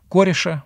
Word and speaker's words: Кореш: по египту персидского царя кореша правильно так произносится имя вовсе не кира кореш уж такие это матерное слово на персидском будем произносить корешь и поэтому и те